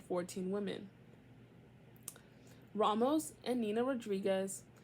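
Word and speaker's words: Rodrigues: Ramos and N Nina Rodriguez no Rod rodri r o d r i g u s I don't think it's Rodriguez girl and that can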